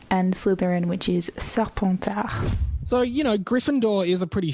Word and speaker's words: Serpentard: d'Aigle, Hufflepuff, Pouf Souffle, and Slytherin, which is Serpentard.